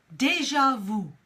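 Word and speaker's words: déjà vu: for you which is deja vu deja vu now that is actually a French word so deja vu it's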